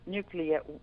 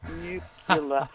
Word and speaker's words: nuclear: it's the nuclear and you should say nuclear and not new solar which is what George Bush he couldn't pronounce this probably deeply I have a little post-it note I put on my my computer reminding me to get you to pronounce it nucular nuclear waste which lasts